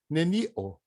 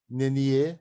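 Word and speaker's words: nenio: Que a tendência nossa é julgar para o final. Neni-o. Neni-o. Neni-o. Nenie não é.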